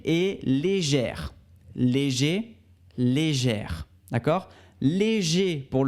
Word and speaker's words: légère: gèrent les gère d'accord on prononce le r finale quand c'est au féminin et au masculin on a juste le son et et légère léger très